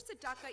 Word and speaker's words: tzedakah: It's spelled tzedakah. Can you say it out there? It's like a snake. Make the sound of a snake.